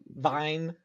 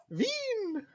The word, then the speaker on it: Vin: not Vine. well, not that one. Um, Veen.